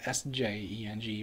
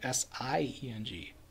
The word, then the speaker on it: Sjeng: So, I'm sorry, not SJENG, but SIENG. So it's like Sieng or something like that.